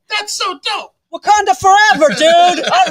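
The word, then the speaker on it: Wauconda: wakanda Illinois W wakanda Illinois Wanda it's just wakanda it's just wakanda that's right that's so dope wakanda forever dude all right yes all right so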